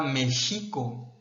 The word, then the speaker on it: México: Por ejemplo, el nombre mismo de nuestro país proviene del náhuatl, en el que se pronunciaba México, con acento en la I y no en la E.